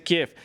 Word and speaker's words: Kiev: ucraniano, Kiev, no tiene una forma no tiene grafía en español para ser escrita. Esa es la explicación que dan allí y por eso en español se dice Kiev.